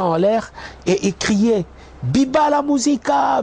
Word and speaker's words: Viva: l'air et il criait Biba la musica Biba la musica c'est pas vive la musica plutôt en fait le le le V en espagnol ça se prononce B donc voilà mais bon